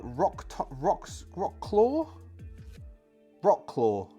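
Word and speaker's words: Wrocław: a ruined town of this might be a silent W uh rock rocks Rock claw Rock claw Rock laaw w r o c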